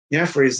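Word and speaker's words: Jefry: So that's how you say his name, Jeffrey.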